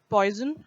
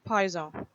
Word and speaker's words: Poisson: The word Poisson is a French word, and you won't pronounce it poison, rather it's Poisson.